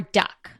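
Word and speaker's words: doek: word duck comes from the Dutch word for cloth which is duck okay I just I spoke Dutch but you spell it d o e k do do I think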